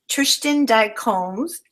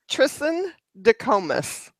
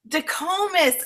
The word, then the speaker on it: Tristan DeComas: And so excited to have Tristan Combs. Did I say it correctly? You're close. Okay, you say it. It's Tristan DeComas. DeComas.